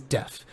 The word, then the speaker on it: Def: tell everybody, like, guys, his name is Deaf. You need to call him Deaf.